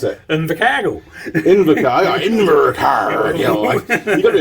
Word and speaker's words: Invercargill: We're down in Invercargill.